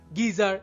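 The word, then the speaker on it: geyser: যেমন কিছু শব্দে জি এর পর ই, আই বা ওয়াই থাকলেও উচ্চারণ জ হয় না বরং গ হয়। যেমন gate, gift, girl, gift, গিজার ইত্যাদি।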